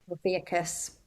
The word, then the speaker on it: Ophiuchus: The 13th one, can't remember how to pronounce it, the dragon serpent. Yeah. Theacus.